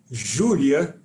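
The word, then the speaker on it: Júlia: In Portuguese, we pronounce it Julia, and it's the name of one of my daughters.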